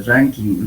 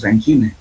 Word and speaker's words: Rankine: Por favor, en alguna parte en esta parte está hablando de ranking, ¿no? El verdadero nombre es Rankine, por favor. Ponerlo aquí así como se escribe, esa es la palabra correcta, Rankine.